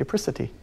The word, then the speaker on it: apricity: It's pronounced apricity.